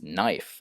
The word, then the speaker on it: knife: all silent then uh a silent k in in all of these words where a k is directly followed by an N uh they they can't in English generally they don't pronounce K and N together uh even though many other languages do so it's knife and KN and not and no and knock and Silent B often